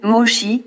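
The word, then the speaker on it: Moshe: En effet, le nom Moïse en anglais se prononce Moses ou Moshi en hébreu et constitue une piste intéressante dans notre recherche.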